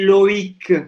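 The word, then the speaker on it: Loïc: Makanya ditekankan di I. Loic. Ya. Karena makanya kalau nggak ada tremanya mungkin bacanya Loic Garnier ya. Loic, ada I-nya, jadi harus ditekankan yang I trema.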